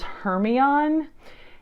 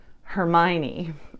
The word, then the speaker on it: Hermione: my 20s, and the way I was saying Hermione's name in my head was Hermione.